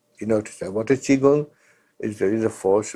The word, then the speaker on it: Qigong: Chinese Qigong, that's the right pronunciation, Qigong, it is pronounced Qigong, is an ancient science of, on the one hand, exercise, Tai Chi.